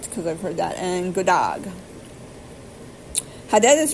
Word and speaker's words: god dag: Hello, god dag. G-O-D-D-A-G, god dag.